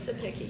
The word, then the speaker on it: Sapicki: No, it's Hensley in the Senate, and is it, I don't know how you say, Sapicki? How do you say it? Sapicki, you got it right.